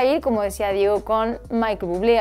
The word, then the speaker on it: Michael Bublé: como decía Diego, con Michael Bublé. Algunos le dicen Michel Bublé porque también es canadiense y se hace así como una diferenciación en la pronunciación de su nombre.